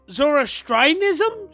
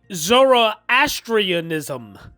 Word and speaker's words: Zoroastrianism: judaism buddhism islam zoro zorostrianism zorostrianism and christian science finally settling into the episcopal church in washington it's actually zoroastrianism zoroastrianism i've never heard of